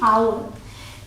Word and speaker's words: our: ठीक है, अब अगला है OUR, इसे प्रोनाउंस करते हैं आवर।